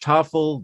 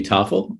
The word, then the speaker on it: Tafel: Like I imagine someone saying, after the main course, we'll be serving a lovely Tafel drizzled in caramel.